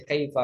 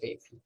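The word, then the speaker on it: كيف: Selamanya dibaca kaifa, nggak boleh kaifi.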